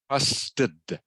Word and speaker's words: trusted: for me I trust trusted trusted trusted trusted good bitter trusted trusted trusted okay and this e here is um pronounced very quietly okay it's the schwa sound in English trusted trusted trust it